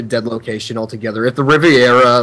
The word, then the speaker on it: Riviera: I was a kid I actually always mispronounced Riviera as Riveria and I think that